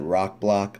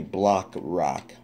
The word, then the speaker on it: Blockrock: was wrong it's actually block rock I said Rock block I was doing it backwards but it's block rock I'll date breast blaster had a mini con named block rock I was saying I